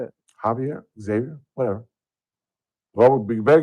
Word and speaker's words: Xavier: Although it is spelled Xavier, it is pronounced Xavier or Javier, I'm sorry.